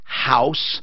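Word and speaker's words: Haus: And I said, House Modern. Now, it's spelled H-A-U-S-S for the German background in engineering, design, meticulous detail. It's wonderful.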